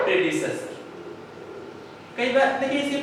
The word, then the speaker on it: predecessor: इसको प्रोनाउंसिएट करेंगे, कई बार हम लोग क्या है प्रेडिसर बोल जाते हैं। This is the wrong pronunciation, you pronunciate प्रेडिसेसर। Clear है? दो टुकड़ों में बांट लो, प्रेडिसेसर, प्रेडिसेसर नॉट प्रेडिसर।